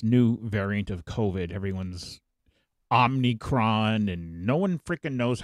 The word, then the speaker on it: Omicron: So I have put together every single time in Star Trek that they have said Omicron. So everyone out there will know how to pronounce it correctly.